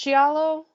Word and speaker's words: giallo: crazy ways everything about i think it's like pronounced giallo oh yeah genre yeah you're right it's like kind of like jello but yeah but not but not way better